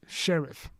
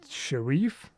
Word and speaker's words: Sheriff: Like sheriff. Okay, sheriff. I would kind of pronounce it Sharif, but I guess I'm wrong. He said sheriff, like sheriff.